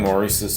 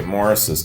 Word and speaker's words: Maurice: and The Supremes following Maurice's death or sorry Morris's death it spelled Maurice but pronounced Morris following Morris's death in